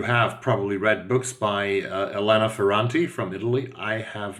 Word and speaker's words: Elena Ferrante: These are Neapolitan novels, and Elena Ferrante, which is probably the correct Italian pronunciation, was named one of the most influential 100 people of Time magazine in 2016 in the world.